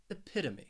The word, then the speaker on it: epitome: third and fourth syllable that third syllable you have the schwa that uh sound and that final syllable it's just me that long e so that ome spelling it is really pronounced uh me epita me epitome so let's practice say the